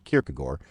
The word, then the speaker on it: Kierkegaard: stumble across this strange 19th century Danish name pronounced Surin kierkegor and wonder what's up to make matters more